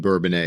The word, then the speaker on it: Bourbonnais: you for having us so the S is silent in Bourbon a is that did I hear that correctly yes and I've heard you